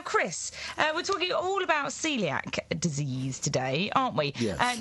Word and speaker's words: Coeliac: You spell celiac C-O-E, like Seb Coe, C-O-E. L-I-A-C. So it looks like Coeliac, but it's pronounced celiac.